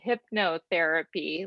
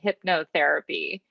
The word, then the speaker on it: hypnotherapy: the future um we we pronounce uh that word hypnotherapy like hypnosis we pronounce it hypnotherapy so so number two